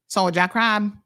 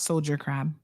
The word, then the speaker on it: soldier crab: oftentimes listening hunter say you got say it like a Kion soja soja crab not Soldier crab soja y'all be pressing